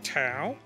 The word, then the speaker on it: Thao: Book Tao, author Tao.